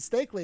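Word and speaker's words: Steakley: novel by John stakley I'll pronounce it stakley because there's a pun a dark fantasy in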